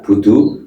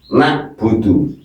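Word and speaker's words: نَعْبُدُ: Jadi ingat siapa yang sering membaca iyaka budu berarti hurufnya berubah hamzah ini ya. Ini loh begini loh. Nah, ini loh. Nah, nak budu na'budu itu iyaka na'budu berarti huruf ini. Tapi kalau iyaka na'budu basah tenggorokannya berarti ini berarti betul.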